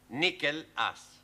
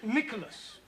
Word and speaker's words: Nicholas: upon a times there was a man called nickel ass that's not quite right no no once upon a time there was a woman called nickel ass it's pronounced Nicholas all right once upon a time there was